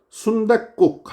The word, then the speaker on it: 순댓국: 우리 말이에요 국 우리말입니다 근데 이거 지금 순댓국 하고 뒤에가 된 소리로 발음이 났어요 그래서 사이시 표기를 하는